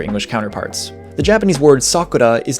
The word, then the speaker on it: sakura: The Japanese word sakura is not pronounced sakura, it's pronounced with like a different R sound that the Spanish rolled R that we all use